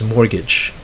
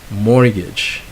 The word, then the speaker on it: mortgage: but the next word I think I've heard some Filipinos pronounce that as a mortgage that's actually a silent to you okay it's mortgage when you say that mortgage alright and our final